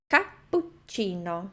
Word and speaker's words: cappuccino: Essa seria a pronúncia correta para que a gente saiba que tem ali duas dópias, né? Cappuccino. Fazendo a pausa um pouco antes do pu e um pouco antes do ti.